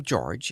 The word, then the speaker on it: Jorge: Jorge Alhamid. In spite of the French spelling, he pronounced the name George in the English manner.